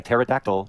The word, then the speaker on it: pterodactyl: Why can't you hear a pterodactyl in the bathroom? Wait, wait, wait for it. Because the P is silent.